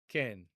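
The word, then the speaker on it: כן: Yes, and that is pronounced ken. Ken. The e vowel is uh you know a little shorter than English's long e vowel like in obey, but a little bit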